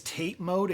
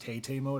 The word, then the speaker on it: TATE: one is rely too heavily on gimmicks is tape mode a gimmick is it actually called tape mode